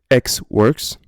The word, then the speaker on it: EXW: Alors, je vous l'avoue tout de suite, nous ne les prononçons pas exactement comme cela. On va les prononcer plutôt X-Works, FOB et CIF.